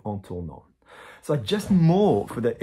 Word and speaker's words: en tournant: But ANT is an ing, and an ing in French is pronounced en. So in turning, en tournant.